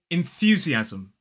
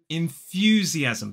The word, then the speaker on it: enthusiasm: five syllable word enthusiasm five syllables the stress falls on the second syllable so the first syllable is it in then we have the stress syllable of f the unvoiced th sound then y o inue the third syllable is z e short e sound INF fusy and then the fourth syllable the fourth syllable is a z so there are two Z Sounds in this word and